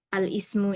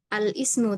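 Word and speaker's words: الاسم: sini ditunjukkan kemudian lafaz alismu ini. Nah, maka membacanya bukan alismu tapi alismu.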